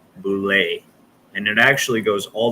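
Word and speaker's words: boule: ever heard of boulay it's spelled b-o-u-l-e bulay and it actually goes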